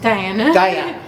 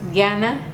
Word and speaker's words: Diana: Diana. Well, it's I'm Hispanic, I'm Mexican, so it's pronounced Diana in Spanish, but for, here in America, it's Diana.